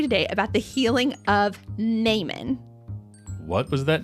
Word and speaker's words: Naaman: about the healing of non. What was that name again? Non. Non. And it's not spelled how you think it's spelled. How's it spelled? N A A M A N. Isn't that N man?